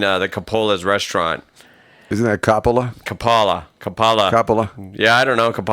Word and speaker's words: Coppola: Isn't that Coppola?